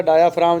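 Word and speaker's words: diaphragm: प लगा रखी थी तो यह बेटा डायाफ्राम जो लफ्ज है ना इसमें जी साइलेंट है साइलेंट ना भूले आपको लतीफा भी सुना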